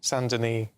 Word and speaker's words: Saint-Denis: Saint-Denis.